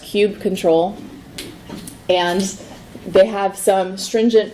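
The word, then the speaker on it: kubectl: with our kubernetes cluster as pronounced cubed control and they have some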